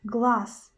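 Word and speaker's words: глаз: will give you an example in word glass glass glass in the end we've got letter z but we pronounce the sound as so so we pronounce glass glass glass and the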